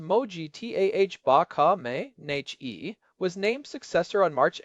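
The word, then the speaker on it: Mojtaba: When Mojaba Kam pronounced Moji T ah baka n was named successor on March 8th, the talking heads were all saying it was a seamless transition of power.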